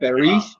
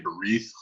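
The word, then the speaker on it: ברית: It's pronounced with the th in the end. I never noticed. No? Not in our liturgy. But like there's a Hebrew organization called B'nai Berith. And Right. it's not Berit.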